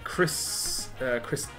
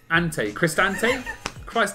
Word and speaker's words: Cristante: DePaul and Cristinate.